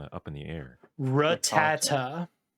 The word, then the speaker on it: Rattata: Rattata. That is the American pronunciation. Rattata.